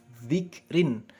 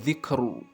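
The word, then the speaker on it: ذكر: Seperti contoh dzikrin. Nah, ketika dibaca waqaf, maka membacanya adalah dzikr, dzikr, bukan dzikru, dzikru bukan, tapi dzikr.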